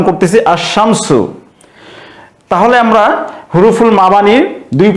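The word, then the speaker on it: الشَّمْسُ: হয় তাহলে সেই ক্ষেত্রে সেই আলিফ লামের লামটি উচ্চারণ হবে না উচ্চারণ না হয়ে শব্দটির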